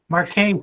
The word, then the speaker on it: Marchese: superintendent to appoint marchese is that correct mark kane is how she pronounces that okay so okay to